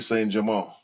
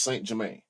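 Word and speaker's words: Saint-Germain: it for you and they said Patty say Jamal that's it's over say it correctly now a no what is it's not Paris St Jermaine which is I know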